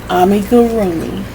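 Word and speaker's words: amigurumi: call this type of croch amig gomi amig Amy gomi Amy gomi Amy Amy gomi gomi mhm where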